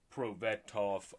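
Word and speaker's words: Prosvetov: it written down uh pro betoff um is how you say that i believe for um ivan their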